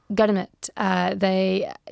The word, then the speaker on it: Girmit: Girmit. So that was the way people pronounce the word agreement.